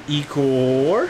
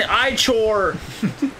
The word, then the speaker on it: Ichor: Well, let's get some Ikor. How do you pronounce that, Nick? Is it Ikor? Ikor. Or Ikor. So I said it the one wrong way. It's an Ichor!